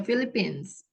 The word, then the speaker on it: Philippines: ini gampang nihil filip philiipines ya Philippines jadi bacanya pakai f ya Oh Miss sor deh